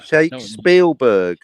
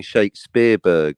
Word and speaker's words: Shakespeare: Shakespeare. Because you want to keep saying Shakespeareberg, but it's shakes. do. It's in your mind. It's after the shake. You're going to go shake Spielberg. I'm sorry, Shakespeare greater than Spielberg.